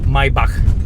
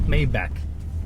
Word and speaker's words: Maybach: latest on you know in German it's Maybach it's not Maybach it's what Maybach I'm